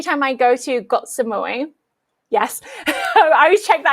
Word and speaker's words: Samui: Yeah, so every time I go to Got Samui, yes, I always check that I pronounced that correctly.